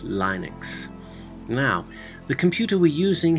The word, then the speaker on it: Linux: Linux and windows some of you may say Linux but it's actually pronounced Linux now the computer we're using happens to be